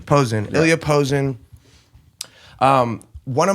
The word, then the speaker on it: Pozin: How do you pronounce the last name? Pozin. Pozin.